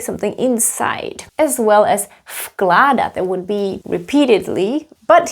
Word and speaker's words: vkládat: Vložit pronounced as vložit, vkládat pronounced as f. Why? Because of k. K is voiceless, so v will be voiceless too.